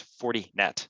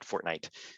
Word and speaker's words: Fortinet: way too much fortnite so it's it's 40 net not fortnite um but I wasn't